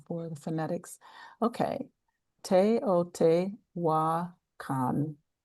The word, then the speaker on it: Teotihuacan: Yeah, someone gave me the spelling I mean the pronunciation for the phonetics. Okay. Teotihuacan. Teotihuacan.